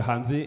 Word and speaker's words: Hanzi: Remembering the Hanzi, like Hanzi. Yes, in Chinese, you'll say it like that.